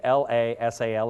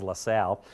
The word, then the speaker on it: Lasal: That's how that word is pronounced, by the way. LaSalle is LaSalle.